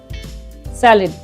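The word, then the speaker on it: salad: आपने देखा यहाँ पर सलाद लिखा हुआ है, लेकिन हम क्या प्रोनाउंस करते हैं, सैलेड, take सैलेड with food.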